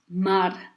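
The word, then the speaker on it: མར: So we kept this r sound from the letter ra, and we didn't keep its vowel, but we kept the vowel from the letter ma, because that's the main letter in this combination, which makes a syllable.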